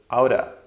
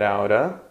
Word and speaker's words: out of: you get out of out of is very often pronounced just outer outer sometimes it's spelled out so how did you get outta and there stays the